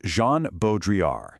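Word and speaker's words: Jean Baudrillard: Today, we're diving into the pretty wild but totally fascinating world of the French philosopher Jean Bodriar, and that's pronounced Jean Bodriar.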